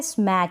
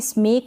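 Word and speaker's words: smack: है फिर यह है स्मैक इसको भी स्मक ना पढ़े स्मैक पढ़े स्मैक का मतलब होता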